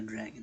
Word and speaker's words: Dragan: Nobody is born a dragon, not even myself. The surname, the h.a.dragan, pronounced dragon.